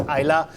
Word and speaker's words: Islay: Please, next time when you pronounce that, don't call it Islay, call it Islay.